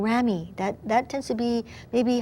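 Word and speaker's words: ramie: Thirdly, we also have something called rami. That tends to be maybe higher end sometimes. It's spelled R-A-M-I-E.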